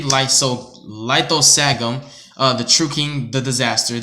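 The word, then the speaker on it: Lithosagym: For example, Lysogasm, or whatever. Lithosagum, there we go.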